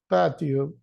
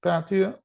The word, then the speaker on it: patio: Chimney, gate, path, roof, steps, terrace, patio, and wall. Yeah, patio or patio. If it's American, the T, as you know, sounds a little softer, like R.